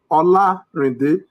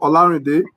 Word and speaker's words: Olarinde: Well, I will tell you the pronunciation of my name is Olarinde. So it's syllabic, as it is called, Olarinde.